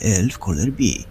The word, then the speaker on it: Älvkarleby: Ustalono, że Elf Colour B, z naciskiem na Col.